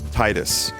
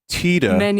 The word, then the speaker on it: Tidus: It's pronounced Tida. It's based on the Okinawan word for sun.